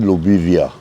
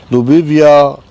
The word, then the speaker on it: Lobivia: Some people pronounce it Lobivia. Lobivia sultanensis.